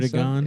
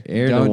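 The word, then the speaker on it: Erdoğan: Erdogan? Yeah, that's his name. That's how you pronounce it. How do you That's say his name? Erdogan.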